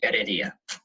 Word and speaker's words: Heredia: Someone just mentioned that the H at the beginning of all the words in Spain is silent, so it's Arro and Heredia.